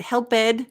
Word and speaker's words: helped: and then we have help so ends with a p sound help now yes would helped be easier to say yes why we complicated